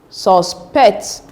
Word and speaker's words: suspect: Take note that the stress should be on the second syllable if it is verb. So it becomes present, present, record, object, import, suspect.